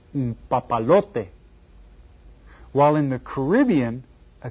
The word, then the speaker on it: papalote: Well, I tell you what, how many syllables are there in the word papalote? See if you can figure it out. Papalote. How many? 4. Hay 4 sílabas. And which one is stressed? The 3rd syllable.